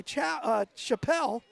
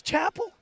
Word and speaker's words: Chappell: Nice run there by Chappelle. It's Chappell? I've said it wrong every single time. Chappell.